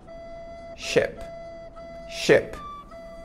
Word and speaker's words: ship: do Titanic porque o Titanic era um shp ship ship certo e essa palavra aqui embaixo com dois